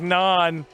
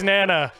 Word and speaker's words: Nana: thought his name was Nhan, but it's Nana.